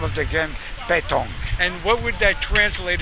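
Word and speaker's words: pétanque: Or how do you pronounce this game? Petanque. Petanque.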